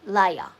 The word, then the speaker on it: Leia: Leia. Okay, pronounce Leia. As in Princess Leia.